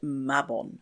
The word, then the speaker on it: Mabon: The American Wiccan holiday of Mabon was born, but the Welsh deity is definitely pronounced Mabon.